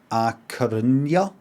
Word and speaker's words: A Coruña: We're going to take a job at A Coruña.